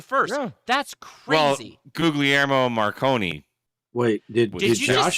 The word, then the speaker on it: Guglielmo: Is that how you pronounce it? Whatever the hell his name is, Guillermo. I don't know. Guglielmo. Guglielmo.